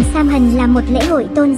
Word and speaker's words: Samhain: Trong thời hiện đại, Samhain, một từ tiếng Gaelic phát âm là Samhain, thường được tổ chức